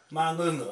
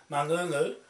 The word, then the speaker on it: Mangungu: Well, how do you say it? Mangungu, okay, I got it. Mangungu.